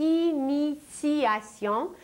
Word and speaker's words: initiation: mais nous parlons de initiation où un T se prononce comme un C mais en réalité il s'agit d'un T et la racine du